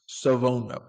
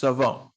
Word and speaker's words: Shavon: And his name is actually pronounced Shavon. It's not pronounced how it's spelled. It's Shavon.